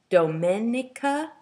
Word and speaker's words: Domenica: My name is pronounced in the Italian way, Domenica.